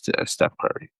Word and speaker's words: Steph Curry: Yeah, I used to Stephen say Curry, Stephen. yeah. I used to say Stephen because like yeah, it's pronounced that, but you know it's Steve. It's Steph Curry.